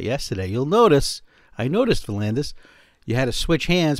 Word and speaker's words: Valandis: If you are a serious analog photographer or a digital photographer as well, please go see the work of Valandis. His YouTube photography channel, I'll spell it, V-U-H-L-A-N-D-E-S, Valandis.